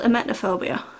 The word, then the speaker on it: emetophobia: I suffer with a severe phobia called emetophobia, and you might have heard of this before. I think I pronounce it correctly.